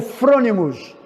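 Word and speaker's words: phronimos: Agora, a palavra prudente no grego significa frônimos, que é P-H-R-O-N-I-M-O-S. Nós pronunciamos como frônimos, que significa inteligência, ser inteligente, sábio.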